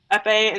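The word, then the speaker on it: épée: The Epi and... How do you pronounce that? Epee and Saber.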